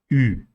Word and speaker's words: Ü: Ü. Ü is pronounced by shaping your lips like U, but also pushing the tongue forward, protesting it forward. So as if you want to say I.